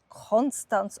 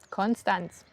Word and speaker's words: Konstanz: Und zwar wird es oft als Konstanz ausgesprochen. Konstanz.